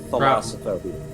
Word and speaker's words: thalassophobia: Also, hey, a major apology to any of our viewers who have thalassophobia. Thalassophobia. Is that how you pronounce that? Yeah, thalassophobia from Thalassa, who is the incarnation of the sea in Greek myth.